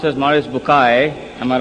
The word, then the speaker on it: Maurice Bucaille: and a scholar of Quran Dr moris buk pronounced as moris bukai am I right doctor do matter okay uh